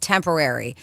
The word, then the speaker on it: Tempoarie: They finally settled on, Tempo Air, pronounced temporary. It's spelled Tempoarie. Temporary.